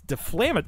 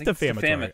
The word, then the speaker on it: defamatory: and defam it's it's deflamat is it defam defamatory or defamatory I don't think it's defamatory it is defamatory all right I thought there was an L like you were flaming flaming that's like how